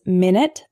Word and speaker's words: minute: of lead lead lead our next one is minute and minut a minute is a period of time 60 seconds for example can I call you back in 10 minutes the word minut is spelled the same way but it's an adjective meaning extremely small for example this isn't an exact replica there are some minut differences minute minut our next hetero name